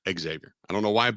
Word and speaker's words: Xavier: friends impress your friends say Xavier not Xavier I don't know why